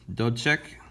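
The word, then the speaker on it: Dubček: start with 1968 with don't check which is how you say that guy's name in and we'll put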